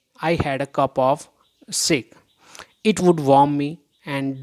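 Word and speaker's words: sake: Shake, a popular Japanese drink. S.A. Sa is pronounced like fa in father, and shake rhymes with way.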